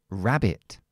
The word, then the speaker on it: rabbit: que se Rabbit Rabbit Esta última es la silaba no acentuada entonces la no acentuada O es una sh e o es una una I como en este caso Rabbit si es una I Normalmente se queda como I como en este caso así que Rabbit Rabbit cama pues